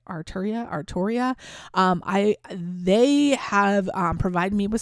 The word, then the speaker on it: Arturia: Arturia.